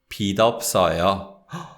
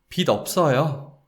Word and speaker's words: 빚 없어요: And because 없어요 begins with 이응, we would pronounce this as 빚 없어요. 빚 없어요. 저는 빚 없어요. I don't have debt. 저는 빚 없어요. So the 지읒 받침, the final consonant, that sound, it doesn't get linked. It's actually the sound of 티귿 that links with the following syllable, because the following word is the whole adjective 없어요. Okay, so that's the overview